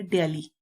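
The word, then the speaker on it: dally: इसका जो प्रोनाउंसिएशन है वो है ड्याली।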